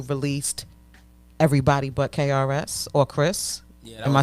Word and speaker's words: KRS: You even formed your own label, Old Dad Truth Records, where you released Everybody But KRS or Chris. Yeah, Am I saying it right? Yeah, Everybody But KRS.